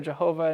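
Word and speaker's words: יהוה: And then we have the name YHVH, which is pronounced Yahweh or Jehovah in various, or pronounced Vika what?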